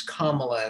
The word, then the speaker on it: Kamala: name correctly by saying it's kamala it rhymes with mamala and uh okay and